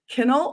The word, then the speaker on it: Kinal: people pronounce my last name wrong is it kennel or kind how do you pronounce your last name you got it it's kennel all right kennel everyone we have